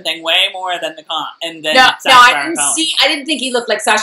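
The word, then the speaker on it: comte: set up before the comp is going to, like, do any business with him. Okay, done. Then we – I don't think you need to pronounce the T.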